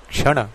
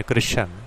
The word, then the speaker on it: कृष्ण: calendar कृष्ण वंश माने क्रश्न य जो क्रश्न क्रश्न कहते हैं यह क्रश्न शब्द अपने आप में कृष्ण वंश का गलत उच्चारण है दुनिया भर में भगवान